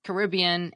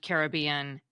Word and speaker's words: Caribbean: Caribbean it turns out most dictionaries list both pronunciations Caribbean and Caribbean and say both are widely accepted but this is a